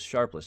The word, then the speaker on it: Sharpless: It came from the now acting FDA Commissioner Ned Sharpless. Sorry, not Steepless. Sharpless. I've been saying his name wrong this whole time.